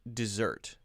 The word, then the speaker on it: dessert: However, because desert and dessert, tasty, yummy food could be used in the same grammar, then we have to have different pronunciation.